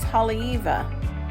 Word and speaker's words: Haleiwa: time in Hawaii because I pronounced everything wrong it's Holly Eva it's on the northwest